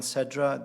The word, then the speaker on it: Sedra: sedra would you say your name and please spell it for us sure um sedra the spelling is a y MN last name